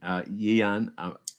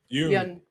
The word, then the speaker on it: Yeun: What about am I pronouncing his name correct? Stephen Yeun. Yeun.